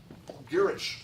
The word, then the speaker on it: Gwrych: Girich Castle, and if you're having trouble with your Welsh, that's spelled Gwrych. Gwrych.